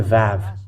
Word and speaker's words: ו: This is the Vav. It is called Vav. It is pronounced as V, and this is how we write it in Hebrew.